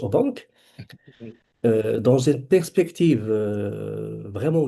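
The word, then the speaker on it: Aubenque: Et mais on doit à un philosophe français qui est Pierre Au du Midi donc on prononce au banque euh dans une perspective vraiment nouvelle.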